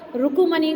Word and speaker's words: रुकमणि: अब यहाँ पर रुकुमणि को हम क्या प्रोनाउंस करेंगे? रुकमणि।